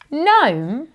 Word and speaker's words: gnome: So sign, gnome, and nat all use the N sound.